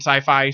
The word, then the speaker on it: Syfy: the phrase sci-fi but you can copyright or trademark the phrase Syfy and just pronounce it sci-fi so I think that's